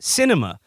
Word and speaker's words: Sinema: um says here the arizona senator's name is pronounced cinema and it is apt